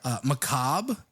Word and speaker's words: macabre: Macabre. Ooh. Love it. Doesn't sound like it's spelled, which is always interesting.